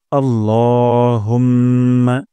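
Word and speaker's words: اللهم: করি প্রথম শব্দটি হলো আল্লাহুম্মা এখানে ল এক আলিফ টান দিব এবং লা বলা যাবে না আল্লাহ বলবো না আল্লাহুম্মা হে আল্লাহুম্মা হে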